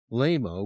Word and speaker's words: lameo: L A capital M O E pronounced LMO with a silent E.